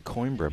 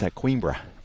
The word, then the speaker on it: Coimbra: I keep saying Coimbra, but that's a very English way of pronouncing it, isn't it? Even though I'm not English. I think it's Coimbra. That's the way to pronounce it.